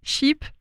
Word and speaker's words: SHEAP: J'ai dit sheep, comme un mouton. Oui. On peut prononcer Sheep ou Chez App. C'est une blague entre nous, on prononce Chez App en fait.